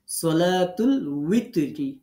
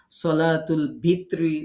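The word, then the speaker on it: صلاة الوتر: এখন এই উই সঠিকটা না জানার কারণে আমরা বাংলায় লিখতে গিয়ে কখনো সলাতুল ভিত্রি, সলাতুল বিত্রি, বেতের এরকম বিভিন্ন কিছু আমরা বলে ফেলি, বা বিভিন্ন সময় উচ্চারণ এরকম ব দিয়ে ভ দিয়ে বিভিন্ন কিছু দিয়ে দেখবেন কোনো কোনো বইতে ভ দিয়ে লেখা, কোনো কোনো বইতে ব দিয়ে লেখা ওয়ার উচ্চারণ। তো আমাদের এই ব ভর মধ্যে যাওয়ার দরকার নেই।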